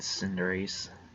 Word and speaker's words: Cinderace: Scorbunny, Raboot, and Cinderace. Yes, that's what it was, Cinderace. I don't know if it's pronounced Cinderace, like Cinderace, or if it's just Cinderace.